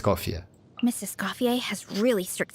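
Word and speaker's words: Escoffier: do the video tomorrow Mrs. Scofier has really her official name pronunciation Mrs. Cofier Mrs.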